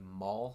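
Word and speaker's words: mahl: And let's see, I have what we call a maul stick. It's spelled M A H L.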